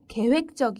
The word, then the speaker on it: 계획적: 중요합니다 그 범죄는 매우 계획적 이었읍니다 반대말은 be 를 붙여서 b 계획적 이라고 사용합니다 그리고 발음도 주의하세요 계획적 계획적 이라고 발음합니다 다음 단어는 효율적입니다 효율